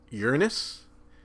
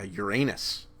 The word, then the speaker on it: Uranus: the sun is uh two pronunciations of this um uranus or if if you don't have um strange word fetishes uh uranus um seventh plant from